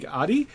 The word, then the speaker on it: Addie: See, whenever I see an A, I want to make it Japanese, like long A, because that's how I've learned to pronounce A. So I always say, but it's Addie, not Addie. Okay, so so I always mispronounce names like that.